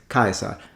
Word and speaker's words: Caesar: a French tendency but it's Kaiser stress stress at the beginning we are looking at